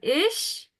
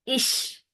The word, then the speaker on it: ich: But right now, it's not ich like English. It's ish. Okay. Very airy sound.